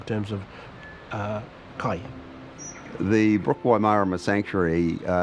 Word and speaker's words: Waimārama: however for that meaning to be correct it must have a macron after the first a of Marama so the pronunciation is Waimarama it was central to